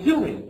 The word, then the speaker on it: doing: And we said we pronounce this without the G. So how are you doing?